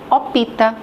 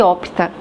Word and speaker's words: opta: Então é interessante que a mesma quem fala design comete o mesmo erro, o parecido quem fala opita em ver de opta.